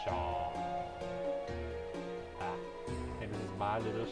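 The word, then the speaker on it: Seam: Pronounced Shaw.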